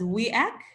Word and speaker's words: WEAC: work okay so uh it's pronounced as we act as the women's entry